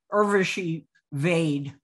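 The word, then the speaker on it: Urvashi Vaid: me defer to keith i just looked up the pronunciation it is irvashi irveshi vade so we stand corrected and any goodman too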